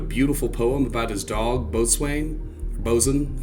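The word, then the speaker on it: Boatswain: poem about his dog bosain bosen I think I think you actually pronounced that bosen he said he had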